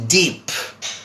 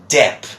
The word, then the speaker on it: Depp: know him as Johnny deep but this is not Johnny deep my friends that might be another person this is Johnny DEP DEP not deep but Depp okay so that's Johnny